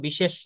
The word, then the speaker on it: বিশেষ্য: common noun জাতিবাচক বিশেষ collective noun সমিষ্টিবাচক বিশেষ material noun বস্তুবাচক বিশেষ না দেখেন এগুলো আমি একটু পড়ে দেই এটা বিশেষ না এটা উচ্চারণ করতে হবে বিশেষ্য হ্যা বিশেষ্য যেমন বাংলাতে